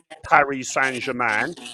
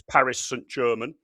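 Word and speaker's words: Paris Saint-Germain: So it is not Paris Sanjaan, it's Paris St. German.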